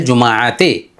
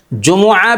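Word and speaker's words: جمعة: इकी यम जुमा Yamal जुमाते Yamal जुमाते अच्छा यहां पर जुमआ भी होता है और जुमा भी होता है। दोनों प्रोनाउंस है। जुम और जुमा दोनों प्रोनाउंस सही है।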